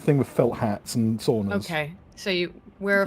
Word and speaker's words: sauna: sauna again. Sounds ridiculous. Sauna. Oh, sorry. I say it with a fucking Scandi accent on accent.